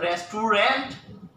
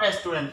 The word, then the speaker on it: restaurant: Is it restaurant? No, it's not restaurant.